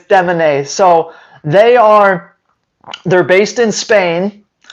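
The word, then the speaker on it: Demanet: Phonetically, it would be Demonet, but it's Demonet.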